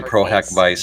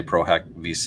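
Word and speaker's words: pro hac vice: chair some people say prohack Vice some people say prohack Vis it depends on if you pronounce it Latin that is the term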